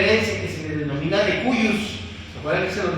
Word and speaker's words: de cujus: que se le denomina de cuyus, ¿se acuerdan que se los mencioné? Sí. De cujus, pero es de cuyus, así pronuncia.